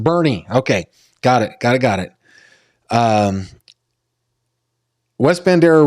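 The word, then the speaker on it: Boerne: And it's pronounced Bernie.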